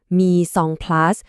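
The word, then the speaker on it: mise en place: สิ่ง ที่ เรียก ว่า me on place ครับ อ่าน ว่า me song plus เป็น ภาษา ฝรั่งเศส ที่ แปล ตรง ๆ ว่า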